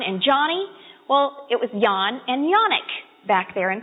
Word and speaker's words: Jan: he was a kid his real name was Yan but when he came to this country they looked at Jan and they said well we know how to pronounce that that's Jan so everybody calls him Jen now but it was Jan